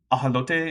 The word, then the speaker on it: ajolote: Or ajolote, if you want to go with, like, a Spanish pronunciation.